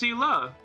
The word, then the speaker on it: Seele: Where did I read it was pronounced Sela? And they do say Sela in the game too. You don't pronounce it in the Angelo intonation.